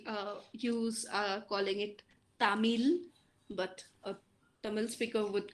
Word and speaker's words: Tamil: here we are saying tamil but uh the speaker of that language would call it as tamir it's very different right